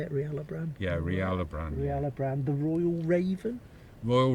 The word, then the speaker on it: Rialobran: Yeah, Rialobran.